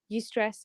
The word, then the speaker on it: eustress: Distress versus eustress. Yeah, EU stress. So basically, Eustress. yeah, it's spelled EUSTRESS.